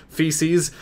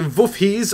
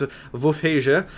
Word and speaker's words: Wolfheze: I'm not trying to say Feces. It's a Wolfheze, or in the proper Dutch pronunciation, it's Wolfheze.